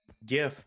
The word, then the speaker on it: GIF: if i'm not mistaken every instance of english words where you have gi the g is soft so if you're an